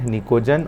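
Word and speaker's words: pnictogen: Group number 15 जो है उसको बोला जाता है निकोजन, पी साइलेंट निकोजन, और ऑक्सीजन फैमिली है उसको बोला जाता है बेटा चाल्कोजन।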